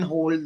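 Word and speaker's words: HODL: of people believe in it is called the hold culture but it is spelled h o d l right Now, so Bitcoin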